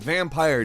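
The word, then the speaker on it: Vampyr: out for in 2018 number 10 is vampire with Y however it is pronounced vampire despite the Y vampire is an action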